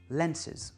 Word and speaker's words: lenses: Donc là, pour calculer la place de l'accent, en fait, je garde l'accent sur le mot original qui est lens et le -es du pluriel est réduit, lenses.